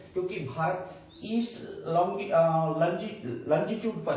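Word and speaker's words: longitude: तो 68 degree 7 minute east लंजीट्यूड से 97 degree 25 minute east लंजीट्यूड। मित्रों से आप अपनी भाषा में लॉन्गिट्यूड बोलते हैं, लेकिन करेक्ट प्रोनाउंसिएशन उसका लंजीट्यूड है।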